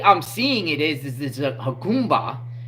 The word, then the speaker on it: Jacumba: And the way I'm seeing it is a Jacumba. It's spelled Jacumba. I guess the J is pronounced H.